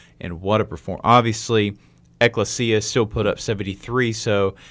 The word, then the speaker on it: Ecclesia: They played, now I kept saying it wrong on the broadcast, but it's Ecclesia College.